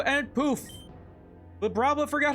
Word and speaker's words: Vibrava: It's actually pronounced Vibrava. I literally just Googled that to make sure.